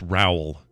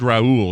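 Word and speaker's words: Roel: was nearly perfect but it's actually pronounced as you would say growl so in a fake phonetics rowell that's what we call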